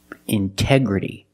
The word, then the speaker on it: integrity: Integrity. The stress is after the NT in these words. So we pronounce a T as a pure T.